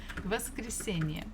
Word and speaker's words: воскресенье: Воскресенье. Okay, a little bit faster. Воскресенье. Воскресенье. Воскресенье. Try to think where should the stress be. Воскресенье. Воскресенье. So it's the syllable before last, the one before last.